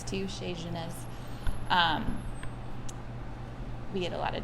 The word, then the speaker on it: Chez Genèse: We say Chez Genèse, which is a fairly Americanized version of it to make it easy for people.